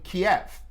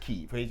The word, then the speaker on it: Kyiv: So that was in Kiev. They pronounce it Kyiv, the capital of Ukraine.